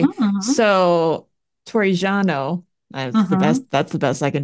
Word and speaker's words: Torrigiano: So Torrigiano, that's the best I can do with his name. That was pretty good. Thanks. Okay. You just have to roll your R's a little bit more.